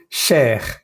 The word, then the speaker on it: cher: Hay que pronunciar bien la E y la R.